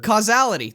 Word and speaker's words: causality: of cat or cash i can never pronounce that casuality really that's how you pronounce that i don't know that's what i'm guessing casual casuality causality and causality that's how you pronounce it causality i'm almost certain of it we did it at